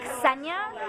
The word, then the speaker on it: Ksenia: like don't worry because technically it's senia but in america people like don't associate the k and the s like as one sound so it's kind of